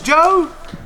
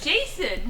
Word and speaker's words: Jason: His last name right, but he mispronounced the first name. Oh, no, please. Please. What's that go? Roxanne, you told me it was Joe. I said Jason. You told me it was Joe at the first.